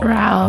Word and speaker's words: Raul: Raul. Oh my God. Oh, that's interesting. So, roll your R's.